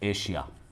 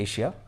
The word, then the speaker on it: Asia: एशिया नहीं बोलेंगे, वो लोग एशिया बोलते हैं, शीन निकालेंगे, एशिया।